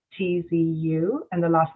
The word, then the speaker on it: Shieh-Chi: So it's actually pronounced Shieh-Chi, and phonetically it's spelled Sheetzu, and the last name, of course, is.